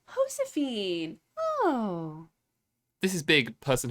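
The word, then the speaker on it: Josefina: It's not pronounced Josephine. I am I'll learn. I am This is big Hosephine.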